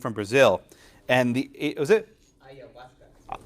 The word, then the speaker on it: ayahuasca: Ayahuasca. How do you pronounce it?